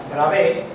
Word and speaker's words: Bravais: Porque hay un señor que se llamaba Bravais, escrito, os lo nombro, como se escribe, Bravais, Bravé, era un cristalógrafo que él dedujo que eran 5.